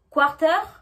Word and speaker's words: quarter: Quarter, quarter. Half, half. Donc on ne prononce pas le R de quarter et on ne prononce pas le L de half.